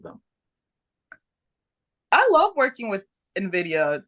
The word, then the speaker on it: Invidia: was from November 11th 2020 when you wrestled Nvidia is that how you pronounce it I apologize if I'm saying it wrong Nvidia right Nvidia but it was in October yeah